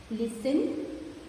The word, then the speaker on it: listen: Listen, Christmas, often. Here we don't use the T sound. The T sound is silent in all these words.